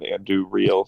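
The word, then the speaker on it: Andúril: likes Sting better than Anduril. So I was like, okay. Yeah, I love Andui as much as the next guy, but Andui. You all have to learn how to roll your R's better.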